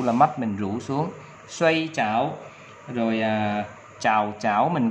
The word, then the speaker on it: 睡: Chữ ngủ đọc là xoay.